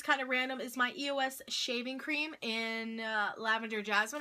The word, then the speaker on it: EOS: cream I've ever used it's the EOS that's how you pronounce the EOS not EOS like everyone else has but um I guess you can pronounce it that way too but I really love